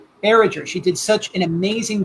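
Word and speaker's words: Barrager: Her last name is pronounced Barriger or Barriger? Barriger.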